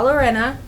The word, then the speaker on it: Llorona: to your parents la Llorona ureña no I said it right now you didn't yes they did double Ellen silent okay whatever she's gonna come